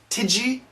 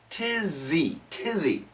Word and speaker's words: tizzy: Pronunciation has some, connect these sounds, has some, website sinna, tizzy. Tidgy? No, tizzy, Woo.